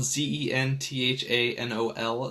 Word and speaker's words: Zenthanol: And you can go check out that video on my YouTube channel, Zenthanol, and that's spelled Zenthanol, Zenthanol, like Zen, like Zen Buddhism or something like that.